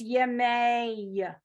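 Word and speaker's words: ימי: You're pronouncing the yud as a vowel. So it's Yemei, Okay. right? So same thing if that was an ah vowel, it would be Yemai. And you would Oh, pronounce more the yud as a consonant.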